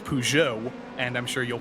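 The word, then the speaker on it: Peugeot: sure you'll pronounce differently pers yeah there's no there's no R I think the reason that happens I think is because in French they go pjo they really go hard with the uh but for some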